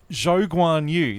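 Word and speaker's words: Zhou Guanyu: And Zhou Guan Yu. That's actually how you're supposed to pronounce his Oh, name.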